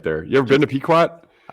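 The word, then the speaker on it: Pequot: Here's where I get in trouble and I start listing and the pronunciations. Uh, it's Peekquat, right? Yeah, it's Peekquat.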